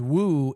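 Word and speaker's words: 五: prince for five because Woo is how you say five in uh Chinese in uh Leai's the fourth prince.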